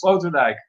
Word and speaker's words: Sloterdijk: That's how you say it, Sloterdijk.